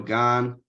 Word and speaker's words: Gane: Jon Jones and cereal gone Gane yeah you said it right the first time yeah it's real gone uh heavyweight fight um